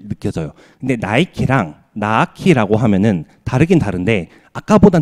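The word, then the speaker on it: Nike: 그러니까 예를 들어서 이렇게 써 놓는다고 하면 사실 저희가 이거를 모른다라고 한다면 니케라고 발음할 수가 충분히 있어요. 근데 여기 있는 사람 다 물어봐도 나이키라고 하겠죠.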